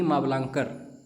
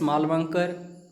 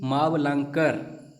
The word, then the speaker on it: मावलंकर: नाम याद रखिएगा जीवी मावलंकर कई स्टूडेंट्स मालवंकर बोलते हैं नहीं जीवी मावलंकर पहले तो उच्चारण सही कीजिए क्योंकि यह क्वेश्चन ऐसी